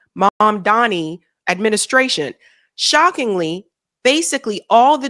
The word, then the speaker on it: Mamdani: It includes the DSA group's list of demands for the incoming Mandami, I always say his name wrong, I'm sorry, Mamdani administration.